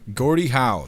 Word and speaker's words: Gordie Howe: Yeah, Gordie Howe.